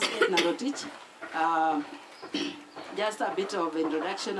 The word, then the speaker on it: Edinah Rotich: Yes, just pronounced Edinah Rotich.